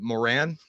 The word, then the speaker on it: Moran: It kind of, that guy that rhymes with moron, but Moran.